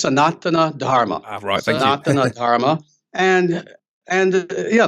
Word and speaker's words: Sanatana Dharma: may not know understand what is sanan um sanatana Dharma is that the correct pronounce Nation there close very close actually it's sonana Dharma Sana Dharma and and yeah the thing is